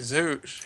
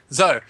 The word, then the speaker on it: Zoe: Sorry, Zoo. How do you pronounce it again? Zoe? Zoe. It's giving Zoe the opportunity